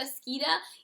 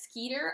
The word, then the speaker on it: Skeeter: rita skeeta i'm sorry i call her rita skeeta even though her name is rita skeeter i think it's because when i listen to the audiobook that is how the british pronounce their ers is more of an uh and so it's just